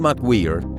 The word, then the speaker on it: McGwier: Al menos eso asegura Robert McGwier (se pronuncia Mac Güir), un científico que pasó